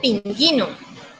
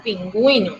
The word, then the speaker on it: pingüino: Es algo similar a como pronunciar la palabra pingüino. Yo no digo pinguino, ¿cierto? Digo pingüino, o sea que le coloco el acento a la U.